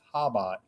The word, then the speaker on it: Chabad: The C's silent cuz if you just read it like normal, it says Chabad, but the C's silent. Apparently, it's Habad.